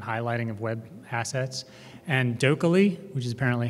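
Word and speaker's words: dokieli: And Dokkaly, which is apparently how you're supposed to pronounce that, like Oakley Dokkaly, does linked research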